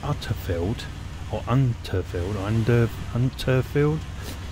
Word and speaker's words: Unterfeld: but I think it's utter field or unfield under unfield I keep want to put a D in it as in under but it's not it's UNFI I think